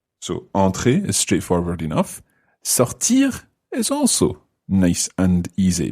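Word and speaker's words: sortie: Anna would say sorti, S-O-R-T-I-E. And I would say sorti, sounds the same, but I would spell it S-O-R-T-I.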